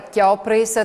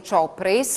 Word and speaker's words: Chiopris: Allora, Chiopris, te la pronuncia standard, ma anche allora dicono Ciopris. Ciopris.